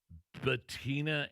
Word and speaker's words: Bettina: now off the market as he's getting married to his girlfriend and socialite, Bettina Anderson. Is that how you say her name? Bettina? Yes.